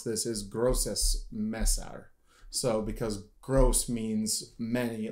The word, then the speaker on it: Grosses Messer: little bit and apparently the way you would pronounce this is grossus Messer so because gross means like it would be